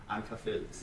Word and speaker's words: Ankarfeldt: We kind of tend to cut a lot of words or a lot of letters in our pronunciation, so the R is not really Ankarfeldt.